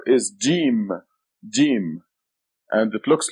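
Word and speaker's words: ج: The next letter is Jim. Jim. And it looks like this. Has a dot right here. The name of the letter is Jim. It is equivalent to G or J. G as in go or J as in John.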